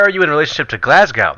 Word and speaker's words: Glasgow: in relationship to Glasgow they go all mate it's Glasgow I was like oh excuse me it's glasgow glasgow glasgow and so from that point on I've never forgotten glasgow glasgow it's pronounced glasgow and bro that has